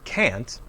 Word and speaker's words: can't: japanese yes i can the negative word can't is always stressed the negative information is important i can't swim can't always has a strong clear vowel sound the vowel sound does not change when we use can't in a sentence i can't swim i